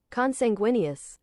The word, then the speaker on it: consanguineous: Pronunciation. Consanguineous.